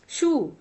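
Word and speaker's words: shoe: शू is never rhyme with फोए। अब यहाँ पे स्पेलिंग OE है, लेटर अगर हटा दिया जाए तो सेम है, लेकिन इसको हम फोए पढ़ते हैं और इसको शू पढ़ते हैं।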